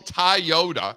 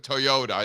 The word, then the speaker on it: Toyota: Uh and then he he also calls it Tayota instead of Toyota.